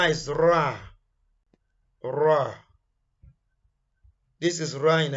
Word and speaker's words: ر: And Ra is number 10. Ra comes out when tip of tongue touches the upper hard palate at the front, similar to the English word raw.